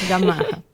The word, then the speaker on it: Gamarra: A Gamarra, é assim que pronuncia? Isso, Gamarra.